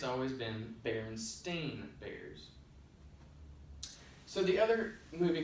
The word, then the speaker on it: Berenstain: Now you might think to yourself, why did he just say Berenstain? That's because our false memory has us believe it's spelled with an E-I-N on the end, when in fact the correct term is Berenstain.